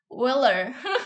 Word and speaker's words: Euler: disebut dengan bilangan bilangan euler kalau tulisan bahasa e tulisannya kayak gini ya tapi kalau misalkan dalam bahasa Inggris tuh dibacanya weller pokoknya kayak giniilah tulisannya ya